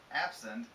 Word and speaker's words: absent: Um, absent. Absent has the stress here. Well, the adjective has the stress here. Absent.